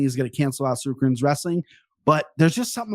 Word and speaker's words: Tsarukyan: It's so funny because I have 2 friends of mine that their names start with T, but it's pronounced like the S. So you just ignore the T, right?